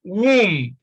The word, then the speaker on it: womb: Now, when you look at womb, you see that it contains the long U sound, womb, womb. Again, you see that B is silent here.